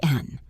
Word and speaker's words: and: The word and often sounds like n.